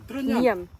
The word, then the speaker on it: Trunyan: Truniang? Truniang. Yes. Okay. It's a bit hard for me to pronounce.